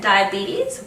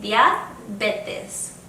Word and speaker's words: diabetes: Pretty much the same in Spanish, just pronounced with a Spanish accent. So instead of saying diabetes, we say diabetes.